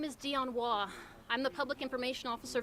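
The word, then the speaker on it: Dionne Waugh: everybody ready to go okay my name is dion wah i'm the public information officer for the city of boulder police department that's spelled d-i-o-n-n-e-w-a-u-g-h we want the public to know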